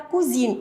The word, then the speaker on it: cousine: La cousine et le S entre deux voyelles se prononce Z.